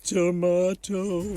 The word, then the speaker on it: tomato: tomato and you like tomato tomato the two ways to say tomato are one of the